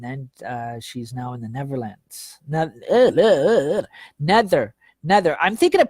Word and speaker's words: Netherlands: she's now in the Netherlands. Nether. Nether. I'm thinking of Peter Pan when I say never. I don't think that ever exists. No, it's actually pronounced Nether, Netherlands. It's got a th.